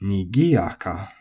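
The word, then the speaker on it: 賑やか: Nigiyaka is nakadaka with the accent on the gi, nigiyaka.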